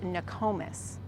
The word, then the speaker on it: Nokomis: Next is a community south of Sarasota, but north of Venice, and this is pronounced Nokomis.